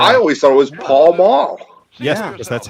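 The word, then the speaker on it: Pall Mall: He says pel mills, which is incorrect. I always thought it was Paul Maul.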